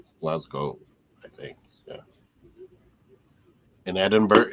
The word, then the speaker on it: Edinburgh: In Edinburgh, it's spelled Edinburgh, but it's Edinburgh.